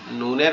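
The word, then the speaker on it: ن: নুনের মধ্যখানে একটা নোক্তা আছে। আর এই নুনটা উচ্চারণ হবে আমাদের জিহ্বার আগা। উপরে তালুর সঙ্গে লাগবে নরমাল ভাবে। লেগে উচ্চারিত হবে নুন নুন নুন নুন আচ্ছা এরপরে হচ্ছে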